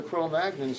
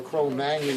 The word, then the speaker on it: Cro-Magnon: And the Cro-Magnon population, and the one-liner for the Cro-Magnons is that, or Cro-Magnon is probably the correct pronunciation, but most people say Cro-Magnon, is that they were